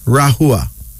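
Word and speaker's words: Rahwa: female name is rahua rahua is spelled r-a-h -w-a but it's pronounced as rahua no the togrinia people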